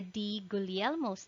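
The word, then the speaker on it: Di Guglielmo: fab m6 or the d gulielmos disease pronunciation is silent g this would give a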